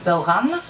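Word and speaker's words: bodhrán: je pense au bauran qui s'écrit Baudran mais qui se prononce en gaque bauran mais hier soir on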